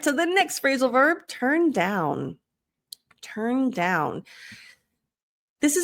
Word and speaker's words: turn: got the tur tur now the u sounds like an e so tur not to but tur so here you want to look at my lips um a lot of you might do o bring the lips back think of t r tur turn turn turn down good and